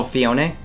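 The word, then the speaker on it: Phione: legendaries that you're missing out on who's oh fione yeah the oh fiona that's how you say it oh i just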